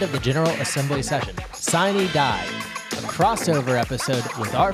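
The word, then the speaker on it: sine die: thomas you just pronounced shiny die the way the senate pronounces it not the way the house pronounces it or the way the romans would have pronounced it uh cine d a yeah well this crossover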